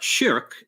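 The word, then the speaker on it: شرك: So the word shirk, written the same way but pronounced shirk in Arabic, means something like partner or associating a partner along with God.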